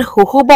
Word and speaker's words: होहोबा: अगर आपका स्कैल्प बहुत ऑयली होता है तो आप चाहें तो इसकी जगह पर होहोबा ऑयल, जिसकी स्पेलिंग JOJOBA है लेकिन इसे कहते होहोबा ऑयल है, वो भी इस्तेमाल